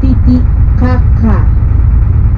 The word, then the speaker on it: Titicaca: The correct pronunciation is Titicaca. It's a little bit more strong.